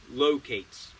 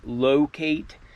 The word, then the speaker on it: Lowcate: But just some ACG branding on the box and the tag reads ACG Locate and that locate is spelled like L O W Kate and these are a size 10.